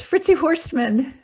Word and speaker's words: Fritzi Horstman: you like to tell the world how to pronounce your name properly sure it's fritzy horstmann so easy isn't it hey i'm so so